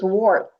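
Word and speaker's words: wort: Okay, it's W-O-R-T, not wart. It's wart. I pronounced it incorrectly, Barbara told me.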